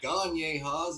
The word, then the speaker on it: Gagne Haas: Gagne Haas is how you pronounce my name.